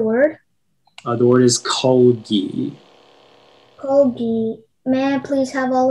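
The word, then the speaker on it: kalgi: Colgi. May I please have all of the information? Yeah, so the only pronunciation is colgi.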